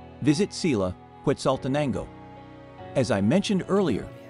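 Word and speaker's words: Xela: Quetzaltenango is the town's colonial Spanish name, but Sila is its Mayan name. So most locals will call it Sila, pronounced Sheila.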